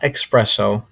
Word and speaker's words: espresso: we have espresso espresso it's not espresso as you hear it or as I hear it oftentimes espresso it's rather espresso my brother and I